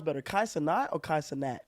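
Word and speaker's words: Kai Cenat: Kai Sanat. I said that right? Kai Sanat.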